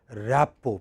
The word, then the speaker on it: rapport: You may not have the same rapport.